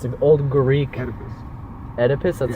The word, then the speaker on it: Oedipus: Oedipus. That's how you pronounce yeah, it.